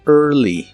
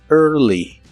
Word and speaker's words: early: Y usaremos la palabra early, que significa temprano. Pronuncias la primera parte de esta palabra como pero con tu lengua lo más atrás que puedas y debe sonar como monstruo. Early, early.